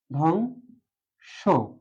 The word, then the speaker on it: ধ্বংস: করতে পারি আমরা জানি ধ এর সাথে যে বটা আছে শুরুতে বফলা থাকলে সেটা উচ্চারণ হয় না ধং ধং স ধং স উচ্চারণটা এমন